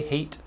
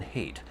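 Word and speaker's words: Haidt: religion by jonathan hate i think you say hate i think the d is silent um this is another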